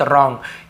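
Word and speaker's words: wrong: सही, राइट, गलत, रॉन्ग, यहाँ पे भी W साइलेंट है, केवल रॉन्ग पढ़ते हैं, लेकिन W को लिखना पड़ता है।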